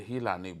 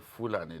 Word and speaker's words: Fulani: When they say Hilani, they are local people, so they pronounce, instead of saying Fulani, they say Hilani. That's the way they pronounced the word Fulani.